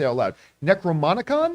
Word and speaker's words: Necronomicon: They stumble across the I always mispronounce or try to say it out loud. Necronomicon? Necronomicon.